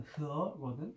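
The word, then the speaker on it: 和: 그래서 이제 그 중국 발음으로는 그 일본 발음으로는 와라고 하고 우리나라 발음으로는 화라고 하고 중국 발음으로는 두 가지 발음이 있는데 일단 하나의 발음은 넣어두자. 좀 약간 굉장히 한정적으로 쓰이니까 그건 아직 몰라도 될 것 같아. 그래서 이제 제일 많이 쓰이는 발음은 흐어거든.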